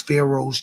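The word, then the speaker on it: Faro: The world knows Pharaohs to be kings, my My name is spelled fashion pharaoh. F A R O.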